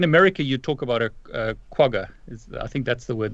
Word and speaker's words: quagga: in South Africa, and it's actually called a quagga. So that's how you pronounce it.